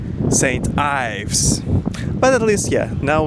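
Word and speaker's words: St Ives: should be pronounced like Saint Eve. And he said, no, it has to be pronounced like Saint Eves. And none of us was right, because actually it is pronounced as Saint Ives.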